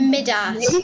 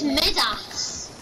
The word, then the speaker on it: Midas: mid ass. Why are you trying to pick at me? What is this? Is it Midas or is it mid-ass? Midas or Midas? I think it's mid-ass.